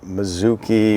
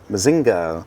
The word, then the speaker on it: Mazinga: Mazuki. Mazinger. Yes. Mazinga. Like bazinga.